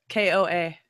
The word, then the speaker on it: KOA: they the prints apart I thought it was hola Cola campground no I'm not saying it right koa yeah really yeah oh